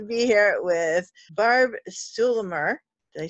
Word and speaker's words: Stuhlemmer: super excited to be here at with barb sue Lamar did I say it right you did okay